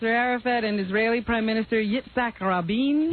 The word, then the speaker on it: Yitzhak: PLO leader Yasser Arafat and Israeli Prime Minister Yitzhak Rabin. Yitzhak. Cock. It's Z-H. How did that get to be pronounced cock?